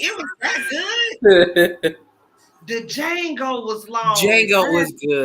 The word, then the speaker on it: Django: The D is silent. It's Django.